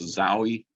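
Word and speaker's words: XAUI: these there's also an older one this is pronounced zowie i forget what it stands for it's an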